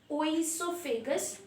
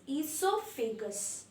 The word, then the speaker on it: esophagus: glands this is the mouth and this is esophagus that is our foot pipe see you will pronounce it wrong it is not oil so vegas but it is esophagus okay o is silent okay see this is